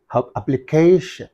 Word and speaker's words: application: this is only that so that's why you have to use the what the stress mark on that application how to pronounce it application right so civilization is